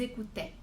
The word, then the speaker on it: écoutaient: Mais on fait vraiment attention à ne pas prononcer ce ENT.